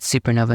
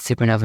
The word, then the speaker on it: SuperKnova: YouTube, all that, at SuperKnova Music, spelled SuperKnova. There's a silent K in front of the N in Nova, at SuperKnova Music on all the platforms.